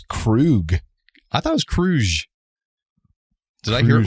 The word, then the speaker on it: Kruge: And once they get to Genesis, the Enterprise is ambushed and disabled by Kruge's bird of prey. I thought it was Krug. I thought it was Kruge.